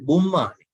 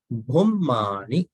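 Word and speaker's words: bhummāni: Bhumma, not bummani. Bhummani vayani va antalike.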